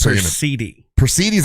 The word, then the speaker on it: Perseid: Per as in fur. C is in the word see, and then id ends with kid. So Perseid.